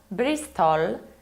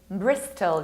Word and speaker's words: Bristol: And this is not Bristol, this is Bristol. You need to reduce the ending.